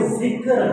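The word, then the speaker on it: ذِکْر: کرو، ذکر اذکار کرو، تو صحیح معنوں میں جو تلفظ ہے وہ ذکر ہے، کاف ساکن ہے۔ اسی طرح لوگ کہتے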